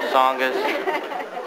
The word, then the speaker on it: Tsongas: race, proving again that if you have a silent T in your last name, you cannot become president. Paul Tsongas. Silent T does not work.